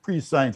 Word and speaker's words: prescience: old testament usually prescience that is spelled like pre-science what is pronounced prescience information that nobody at